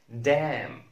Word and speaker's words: damn: MN في نهاية الكلمة لا ننطق N. مثال autumn, autumn, autumn, damn, damn, damn.